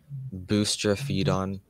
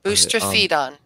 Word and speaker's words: boustrophedon: Boustrophedon. Am I saying it correctly? Yes. Boustrophedon.